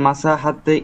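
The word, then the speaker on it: مساحت: হ্যাঁ মাসাহাত, মাসাহাত বলছিলেন, এখানে মাসহাত হবে না? হ্যাঁ মাসোহাত, মাসোহাত, এই যে সিন আলিফ সেটাই বলান মাসোহাত।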